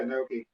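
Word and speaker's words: gnocchi: no how do you say it Noki yeah Noki cavatellis I don't even know what that is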